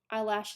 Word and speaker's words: Eilish: I know of Billie Eilish, is that how you say it? Eilish? Eyelash, as I've heard people say, but I haven't actually heard much of her music besides the Bad Guy one.